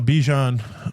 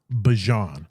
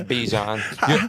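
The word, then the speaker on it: Bijan: the man, the man definitely is um uh Bejon um at the running back position. Or is it Bjon? I think he he came out and said it's pronounced Bjon.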